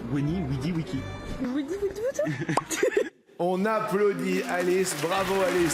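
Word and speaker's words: Veni, vidi, vici: Théoriquement, en latin classique, on ne prononce pas Veni Vidi Vici, mais c'est Weni Widi Wiki.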